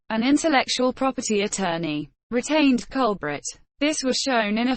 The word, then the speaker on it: Colbert: the Great Famine originally his surname was pronounced culprit Colby Artie in English Stephen Colbert's father